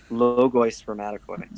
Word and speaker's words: Logoi Spermatikoi: And so, and I always pronounce this wrong, but is it Logoi? How do you say it? Logoi Spermatikoi. Logoi Spermatikoi.